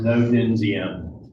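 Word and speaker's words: Ngô Đình Diệm: D's in Vietnamese can either have a hard sound or sound more like a J. So his name's pronounced No Dinh Diem.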